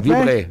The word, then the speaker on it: Vibré: assim, ó, pra quem tá só ouvindo, se escreve assim, ó. Vibre com acento agudo no E.